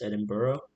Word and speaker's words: Edinburgh: i know it looks like edinburgh but it's pronounced edinburgh um the meeting was very important in terms